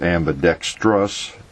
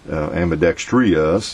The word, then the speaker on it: ambidextrous: like like ambidextrous uh when you look the spelling of it it's ambidextrous t r o u s there's no I in there so there's there's no way you know it can be pronounced amidex us it's just just not in there we're sticking another syllable